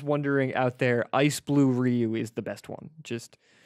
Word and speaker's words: Ryu: you I remember friends how to pronounce Ryu and I know three or I ever write it's definitely Ryu my friend kept saying it was rue I know what you're